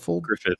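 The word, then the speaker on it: Gruffudd: Griffith. Gruff. Griff Guff. Double D in Welsh is F.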